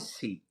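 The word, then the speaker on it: 关系: Guanxi, the Guanxi.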